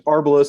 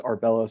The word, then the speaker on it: Arbelos: No, there's no definitive pronunciation. Like even Okay. within, like, there's Arbelos and there's Arbelos, and they're both correct.